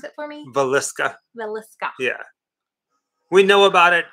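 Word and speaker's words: Villisca: Pronounce it for me. Villesca.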